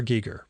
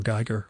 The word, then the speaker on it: Giger: Giger. Or Geiger, or Giger, I always forget how that's pronounced.